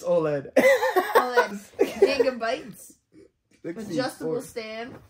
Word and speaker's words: OLED: lights how do you say it OLED it's OLED OLED gab btes adjustable stand oh it's very